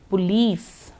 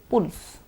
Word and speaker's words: police: Sun, sun, soap, soap, list, list, strange, strange, police, police. We are habituated to hearing people say pulse or something shorter, but let's say it properly. Police.